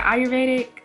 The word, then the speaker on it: Ayurvedic: main crush ayurvedic pre-poo is it a or vetica or is it ayurvedic because in spanish the a y is pronounced i like ayuda ayudame what about foreign okay but